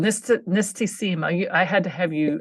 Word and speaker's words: Nistisima: Called Nistisima. I had to have you help me to pronounce the word correctly.